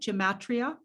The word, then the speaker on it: gematria: numbers and the geomatria did i say that right gematria yeah yeah camacho geomatria yeah yeah you said it right yeah um well